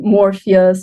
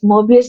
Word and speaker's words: Mobius: And it gets mispronounced all the time. And really? Just, yeah, we're called Morpheus, Mobius.